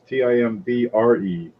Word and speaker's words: timbre: Well, it's spelled backwards. It's Timbre.